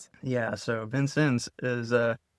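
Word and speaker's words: Vincennes: Benson's Indiana. So pronunciation there and a lot of people say like Vincent because it's spelled funny.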